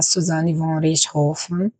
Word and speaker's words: Suzane von Richthofen: Porque a gente vai falar da Suzane von Richthofen. E, sim, é assim que se pronuncia. É um nome de família alemão.